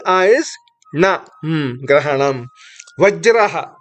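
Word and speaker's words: ग्रहणम्: Next, Grahanam. G, R, A. This whole thing is Gra. G, R, A. H, A is Ha. N, A is Na. Grahanam.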